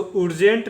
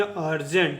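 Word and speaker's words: urgent: इसको उर्जेंट नहीं पढ़ेंगे, इसको पढ़ेंगे अर्जेंट, ठीक है।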